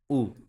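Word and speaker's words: う: যে বর্ণটা সেটা হচ্ছে কি উ সেটা হচ্ছে উ উ এটা লিখার স্টাইলটা দেখি আমরা। এইযে এই জায়গায় এত সুন্দরভাবে দেওয়া আছে। হালকা একটা হুক হবে। দেন নিচ থেকে এসে ঘুরায়ে দিব। এটা কি হবে? এটা হবে উতে উদন।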